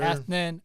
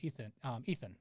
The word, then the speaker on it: Ethnan: Yeah, good job actually pronouncing that. A lot of people screw that up. We're going to start right there, man. Yes, sir. Because, like, when I first saw your name, I'm like, oh, Ethan.